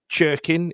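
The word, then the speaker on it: Cirkin: right but that run that cherkin is how you pronounce it cirin did to to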